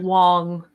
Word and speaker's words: Wang: Garrett Wang I'm sorry I think you pronounced it Wong with Garrix Wang what he's a little